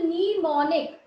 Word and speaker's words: mnemonic: M is silent here. The name of this is mnemonic.